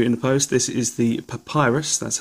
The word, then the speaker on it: PaPiRus: got something new in post this is the papyrus that's how you say it from PI supplier